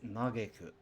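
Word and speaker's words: 嘆く: Pronunciation, emphasis on get.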